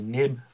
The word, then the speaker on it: xib: xib which we're going to be calling a nib file nib is how we're going to be pronouncing it um but it is xib and um basically this